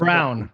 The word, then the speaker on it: Braun: i mean you got braun or however the hell you're supposed to pronounce it what did you say right there it's brown but you can call him braun yeah i'll call him